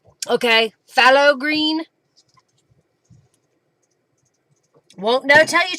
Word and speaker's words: phthalo: Pronounced phthalo? Okay, phthalo green.